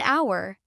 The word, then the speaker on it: hour: Examples: an apple, an orange, an umbrella, an hour. Here, the word hour starts with the letter H, but the H is silent. The sound starts with ow, which is a vowel sound.